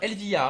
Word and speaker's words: Elvia: bah écoute, hein, moi je te remercie, hein, Elvia, c'est comme ça qu'on Mais de prononce, hein, rien. Elvia.